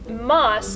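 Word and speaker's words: ます: what is moss and why is it pronounced moss but spelled m-a-s-u that's actually two questions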